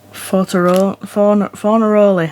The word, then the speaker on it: Fornaroli: Yuki Tsunoda, Carlos Sainz, Lewis Hamilton, Fornaroli, that's how you pronounce it.